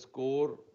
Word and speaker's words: SCOR: SCOR pronounced as score, President Dr.